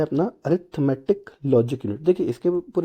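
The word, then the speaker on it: Arithmetic Logic Unit: लॉजिक यूनिट होता है, तो इसको कभी कभी कंफ्यूज करने के लिए अरिथमेटिकल लॉजिकल यूनिट ऐसा कुछ भी बोल सकते हैं, तो ये गलत होता है। अरिथमेटिक लॉजिक यूनिट इसका सही प्रोनाउंसिएशन आप कह सकते हैं होता है।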